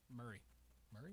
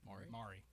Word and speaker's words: Maury: Murray. Oh, Maury. I was like, Murray didn't sound right.